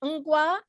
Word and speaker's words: Ngwa: And where I come from, Ngwa, Ngwa. And that's how you say it. Ngwa, N-G-W, Yeah, Ngwa, yes, exactly.